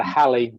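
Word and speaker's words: Halley: the seems to be the jury says it's either halle or hawley um honey what else could there be oh haley yeah but from what i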